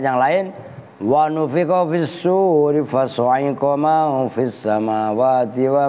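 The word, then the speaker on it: صور: Awas bacanya loh ya, sur. Kalau bacanya suar itu jamaknya surah, maknanya gambar atau bentuk.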